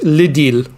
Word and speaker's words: L'Idylle: Well, it's an L before the I, so it's L'Idylle. Yeah. L'Idylle.